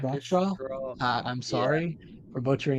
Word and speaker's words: Rakestraw: I don't even know how to say it. Rockstraw, yeah, Rockstraw. Rakestraw.